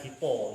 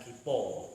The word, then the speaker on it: Gipo: Hai Haji Hasan gipo bacanya gitu kan gipo Ya gitu oh bukan kepo kalau Oh itu kan